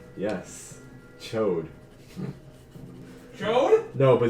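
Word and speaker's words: Chaud: dragon that's a name yes chode no but it's it's c-h-a-u-d but it's pronounced chode it's like an amber chart okay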